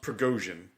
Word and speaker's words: Prigozhin: So I believe his name is pronounced Prigozhin. Yes.